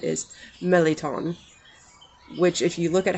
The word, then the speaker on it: mirliton: out the pronouncement is meleton which if you look at how it's spelled it's it looks like merliton m-i-r-l-i-t-o-n but the the pronunciations that i saw phonetically online look like they pronounce it melaton now it's funny because